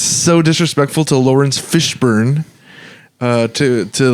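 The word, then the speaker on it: Fishburne: say his name I it's just Fishburn you said Fisher bur it's because I was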